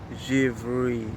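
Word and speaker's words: Givrée: a little sample of tear the Hermes oh javeri that's spelled g-i-v-r-e-e so check it out I'm gonna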